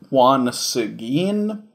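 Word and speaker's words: Juan Seguín: element okay that is as great-great-great-grandfather okay it's pronounced Juan Seguin but yeah it seems like our main character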